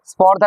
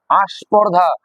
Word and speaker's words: স্পর্ধা: তো আমরা এখানে স্বরাগমকে তাহলে কি দেখলাম, উচ্চারণের সুবিধার জন্য স্বরের আগমন ঘটছে, এখানে আগমন ঘটছে।